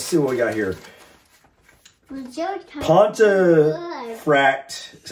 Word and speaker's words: Pontefract: Pontefract, is how you pronounce it, is in Yorkshire.